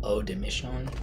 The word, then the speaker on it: Eau des Missions: everyone talking about oh de Michonne that's how you pronounce it buy it the notes are vanilla